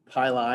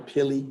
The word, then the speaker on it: pili: Pilus is also called, or plural would be pili or pili, if you want to say it like that.